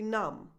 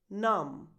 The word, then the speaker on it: numb: The title of the famous Pink Floyd song is pronounced comfortably numb. Comfortably numb. That final B in numb is silent, by the way, so that's a bonus for you. Comfortably numb.